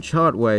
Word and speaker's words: Chartway: Thankfully, the CH in Chartway is not pronounced the Chanticleer way.